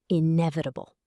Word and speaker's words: inevitable: Inevitable. Stress on the second syllable.